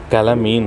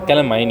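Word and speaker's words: calamine: कैलामीन है, कैलामाइन, कैलामाइन, कैलामाइन नहीं, कैलामाइन ही इसका प्रोनाउंसिएशन। और जिंक ट्राइट है।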